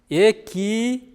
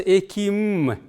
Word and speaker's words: экиным: Экиным. Вообще произносится эким. Ну, можно и так произносить, можно и так.